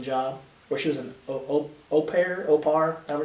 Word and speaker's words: au pair: Or she was an au pair, however it's pronounced.